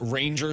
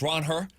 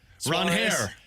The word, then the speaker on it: Ranger: It's not Ranger Suarez. It's Ron-Hair. Ron-Hair. Uh You have to roll your r's. Ron-Hair.